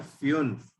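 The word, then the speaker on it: fünf: F, U में उमलाउट, N और F, इसको हम लोग प्रोनाउंस करते हैं फ्यून्फ।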